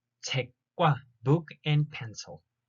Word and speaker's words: 책과: Pay attention to the sound that it's pronounced like a double kiok, double consonant. 책과, 책과, book and pencil.